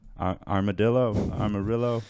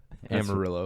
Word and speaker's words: Amarillo: Traveling through, I always say it wrong. Armadillo. Armadillo. Armadillo. Amarillo.